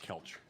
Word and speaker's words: Kelce: It's pronounced Kelce. It is not, Ryan.